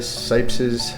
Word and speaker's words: Cipes: And when they came over to the United States, nobody could pronounce T-S, so they said Cipes, C-I-P-E-S.